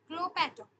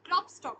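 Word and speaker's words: Klopstock: হলো উইঙ্কলম্যান, তারপর সাহিত্যে হচ্ছে ক্লোপ্যাটক, ঠিক আছে। সাহিত্যে হচ্ছে ক্লোপ্যাটক। ক্লোপ্যাটক একজন বিখ্যাত রাইটার। ফ্রেডরিক গটলিয়েব, সরি এটা ভুল বললাম আমি, ক্লোপ্যাটক হচ্ছে ক্লপস্টক আর কি, এটাকে বাংলায় আমরা যেটা উচ্চারণ করি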